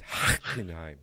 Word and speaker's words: Hockenheim: So their schedule right now is it starts in May in Hockenheim. No, he's got to say it right. It's Hockenheim. Yeah, whatever. Hockenheim.